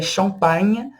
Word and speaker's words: champagne: O GN tem o som de nh, nh. Tá vendo como eu estou pronunciando? Nh. Champagne, champagne. O GN tem esse som, tá?